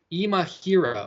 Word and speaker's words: Imahira: But I think the only guy that I really want to stick my name to at 6,900 is Imahira. Wow, I just mispronounced it again. Imahira. Oh, I pronounced it right.